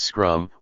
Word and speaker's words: SCRM: 56 in any case DeStefano shortly filed several allegations against me with the administration standing committee on Research misconduct CRM pronounced scrum one of which that